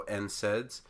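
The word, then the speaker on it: NSAIDs: how that's pronounced uh because we have two consonants to begin the word the n and the S uh we sound out the n and then SS so n saids and usually it's all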